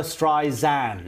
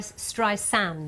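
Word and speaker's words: Streisand: for Barbara okay so how do we say her name it's xand isn't it Barbara stri zand as opposed to Dr stri sand but I've always said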